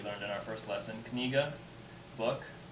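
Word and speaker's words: книга: Like this letter here, it looks like an H, it's pronounced N. So this is kniga.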